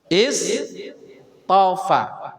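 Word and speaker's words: اصْطَفَى: Nah kalau misalkan di wakaf innallah mau mengawali dari sini, cara bacanya gimana? Istofa, ustofa atau atau astofa? Istofa.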